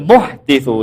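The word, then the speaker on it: المحدث: Bismillah, qala rahimahullahu taala wal muhtitsu lil alam. Ini bacanya muhtits ya, bukan muhdas ya.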